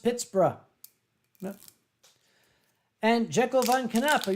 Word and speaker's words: Pittsburgh: yes and hadron you're correct it should be pronounced Pittsburgh and Jekyll Von canap are you still proud